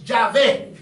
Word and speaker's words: Yahvé: Lo latinizaron. Algunos le pusieron A y E y es Yahvé.